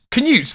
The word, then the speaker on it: Canute: I know I won't King Canute can use that's how you pronounce it there we go glad